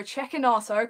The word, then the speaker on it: Cecchinato: And then against Marco Cecchinato, correct pronunciation.